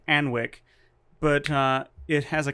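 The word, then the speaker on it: Alnwick: think that sounds called anwick but uh it has a castle called anik you don't pronounce the w for the castle but you do for the town um fix your names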